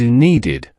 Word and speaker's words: needed: Next is need. It ends with t, so the past tense is needed, pronounced needed. Repeat after me, needed.